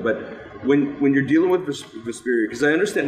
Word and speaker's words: Vesperia: Is it Vesperia? Vesperia, yeah.